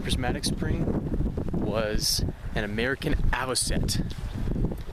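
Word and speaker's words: avocet: It turns out that weird bird at the Grand Prismatic Spring was an American aviset. A V O C E T. Pretty sure that's how it's pronounced, but that's a lifer.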